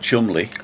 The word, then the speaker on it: Cholmondeley: And there's a place in Cheshire, I think it's Cheshire, called Chumley. Well, I know Chumley, which is spelled Cholmondeley.